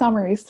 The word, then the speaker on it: Amaris: Amaris, did I pronounce that right? It's Amaris, no worries.